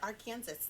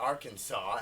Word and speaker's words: Arkansas: and stupid like call arkansas arkansas yes or our kansas yeah our kansas it is nothing that wouldn't be our kansas but it would be our kansas no a-r-r kansas but but our kansas or arkansas as it's really called if you pronounce it